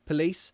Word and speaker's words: police: schwa replaces it's also look at this word police we've got two syllables right / lease which one is the stressed one it's this one Lise Lise so the weak syllable